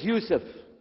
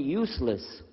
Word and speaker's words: Yusuf: we'll work on itah my name is Yousef can you say Yousef you say Yousef you're very good I wish you teach my wife she keeps mispronouncing it she calls me useless alhamdulillah now how many